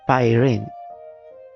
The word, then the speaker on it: Pyrene: What I wanted to check is, can we get the pronunciation? Pyrene.